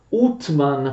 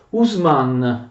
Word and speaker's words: Uthman: Il sultano Otman, con precisione in turco Utman, però appunto veniva anche pronunciato Usman.